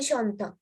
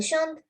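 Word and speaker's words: chantent: Elle chante, elle chante. Same pronunciation. Pronounce කරන විදිය එක සමානයි, but ලියනකොට වෙනස්. Okay, so this is not chanton, it's chante. Chante. This NT is silent.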